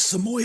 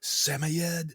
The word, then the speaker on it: Samoyed: world they call it seied okay because that's closer to like the original Russian pronunciation excellent they're they're I